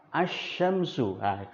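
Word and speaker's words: الشمس: contohnya adalah contohnya nah ketika pengucapan as syamsuh saya kan ngomong ucapannya cuman Alif langsung bertemu dengan Shin tapi dalam penulisannya wajib ada lamnya itulah fungsi alif lam syamsiah dalam pengucapan tidak diucapkan namun dalam penulisan harus ditulis contoh yang lain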